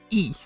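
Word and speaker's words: い: set of vowels pronounced e eels allied e ills see even i get mixed up it's pronounced e but it's the letter i remember that e next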